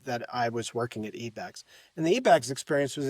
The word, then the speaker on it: eBags: company before you founded SodaPup, Yeah, which was eBags. Is that how I pronounce it? eBags. Yeah, it was an eBags.